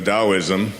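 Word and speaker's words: Taoism: as I've been researching a Daoism which is spelled t a o i s m t AO the da the word Dao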